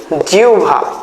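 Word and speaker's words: জিহ্বা: সবা যুক্ত অবস্থা আছে না নেই তাহলে এটার উচ্চারণ হবে কি জিউভ কি হবে জিউভা হ্যা রসুভ ঠিক আছে তাহলে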